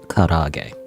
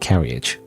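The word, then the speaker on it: 唐揚げ: Anyway, I think it's pronounced karage. You let him know it's pronounced karage because you're a fucking weeb, not carriage. What? Nani? He flips the book back over, holding it close to his face in the low light. That's how you say it? I've been calling it carriage this whole time.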